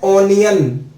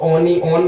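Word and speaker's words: onion: वैसे तो इस स्पेलिंग को ओनी ऑन बोलना चाहिए। क्या बोलना चाहिए? ओनी ऑन, ओनी ऑन। यहां छोटी ही क्या आएगी मात्रा, ओनी ऑन। लेकिन इसको इंग्लिश में बोला गया जाता है ओनियन, और कई कंट्रीज में इसको अनियन भी बोलते हैं।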